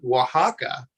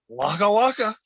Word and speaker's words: Oaxaca: the and there's a state in mexico called oaxaca which by the way is spelled o-a-x-a-c-a it's like what is that even english so so what is what is mexican fuzzy bear say wagawaka oh close he says where are my children